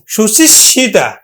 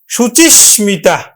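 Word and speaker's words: শুচিস্মিতা: আমরা করলাম কি এবার সুচিসমিতা সুচিসমিতা সুচিশিতা নয় সুচিসতা নয় সুচিসমিতা তো শিক্ষার্থী বন্ধু ক্লাসটি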